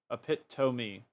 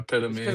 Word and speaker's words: epitome: Like I remember seeing I remember saying epitome a lot and then seeing it spelled out I see it as epiome. Oh yeah. Yeah. Yeah. Exactly. Epitome. Yeah. Epitomy. We're saying it's because we're saying it wrong. It really is like we're saying epitome. Epitomy. Epitomy. We're saying it really fast.